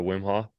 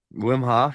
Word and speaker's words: Wim Hof: of like the rapid breathing is that the Wim Hall how do you say it Wim Hof you you got it when uh I did